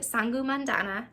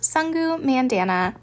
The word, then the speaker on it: Sangu Mandana: of irregular Witches by sangu Mandana I think that is how you say their name hey all editing Shelby here their name is actually pronounced sungu Mandana so sorry about that um